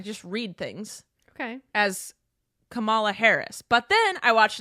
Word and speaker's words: Kamala: read things okay as kamala harris but then i watched an snl sketch that said it's pronounced kamela harris like pamela but camella okay you said snl